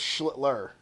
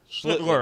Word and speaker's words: Schlittler: Also, it's Schlittler. Schlitter. I always say it wrong.